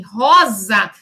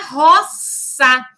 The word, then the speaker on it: rosa: Em latim, o S possuía o som do nosso SS. Então, por exemplo, em rosa, como nós pronunciamos hoje com o som do Z, em latim era roça, que na passagem para o português, ele passa a ser pronunciado com o som do Z, rosa.